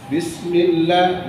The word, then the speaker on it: بسم الله: Bacanya bis, ya senyum, bis. Jangan bis, tak jelas, bis. Kenapa? Sin huruf nipis. Sa, assa, assalamu, assa, senyum. Ya, bis. Bismillah nipis, lam nipis. Jangan millah, mil.